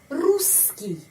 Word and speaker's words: русский: Di sini 2 huruf S, ya. Kalau kita tahu, kalau ada 2 huruf konsonan, SS atau NN atau LL atau huruf apa saja konsonan double, kita mengucapkan seperti satu huruf.